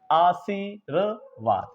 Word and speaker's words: आशीर्वाद: रा यहां पर आएगा, रेफ वाला जहां पर रा लगा होगा उससे पहले उसका उच्चारण निकलेगा, आशीर्वाद, इस तरीके से।